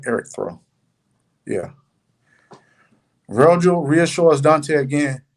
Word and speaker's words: Erictho: Am I pronouncing that right? Erictho.